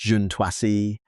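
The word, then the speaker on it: Juǀʼhoansi: She spent years living among and recording the conversations of the Juansi pronounced junuasi bushmen in the Kalahari desert.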